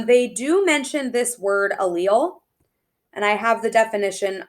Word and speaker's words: allele: but turn on sale allele allele is how we pronounce it so what then it